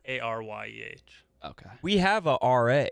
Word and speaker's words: Aryeh: Yeah, REA. How do you spell that? ARYEH. Okay. We have a RA.